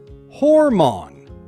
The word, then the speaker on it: hormone: Start with hor, like the word more with an H, and finish with mon. Together, hormone. Now let's practice 3 times together. Ready? Hormone.